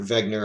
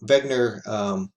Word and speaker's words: Wegener: See, he did some work leading up to this, but by Alfred Wegener. I tell you he's German because it's pronounced Wegener, not Wegener.